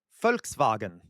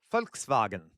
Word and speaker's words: Volkswagen: So, if you put them both together using what we just learned, folks vagen. Folks vagen. All right. So, again, V's are W's are pronounced as V's. V's are pronounced as Fs.